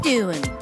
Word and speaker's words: doing: In natural English, doing sounds like doin'.